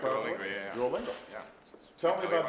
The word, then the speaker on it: Duolingo: And we've got Duolingo. Did I That's pronounce it correct, properly? Duolingo, yeah.